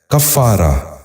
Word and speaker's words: کفارہ: غور سے سنیے، کرج۔ نواں لفظ ہے کفارہ۔ یہ غلط تلفظ ہے، درست تلفظ ہے کفارہ۔ دوبارہ سنیے، کفارہ۔ بچوں